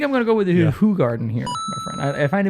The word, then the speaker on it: Hoegaarden: calling it on not hoe garden like check it check out their website they they say it's officially pronounced who Garden if you haven't seen our who Garden review and you're wondering